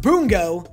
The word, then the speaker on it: Bungo: pronouncing this show two different ways apparently it's pronounced boom go but I like bungo season two way better than season one slow